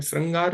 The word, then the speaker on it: श्रृंगार: इसमें रा नहीं है श के बाद रा नहीं है ऋ है तो इसीलिए श के नीचे यहां पे हम मात्रा लगाएंगे ऋ की ठीक है तो श्रृंगार है वास्तव में श्रृंगार नहीं होता तो यह इसका सही प्रोनंसिएशन है तो इन दोनों में